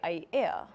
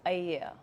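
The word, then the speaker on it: Aiea: several vowels put together people tend to say aya but actually it's ayea i am so will maka allah be alert to pronounce the okina where they are and not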